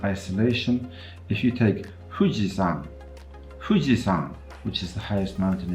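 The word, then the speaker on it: Fuji-san: if you take fujizan fujisan which is the highest mountain in Japan you've probably heard of it then that is a good example of the bilabial fricative fujisan fujisan not fujisan right if you listen to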